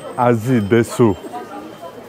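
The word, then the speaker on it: アディダス: Azi Desu. Adidas'ın Japonca okunuşu. Azi Desu. Adidas yani.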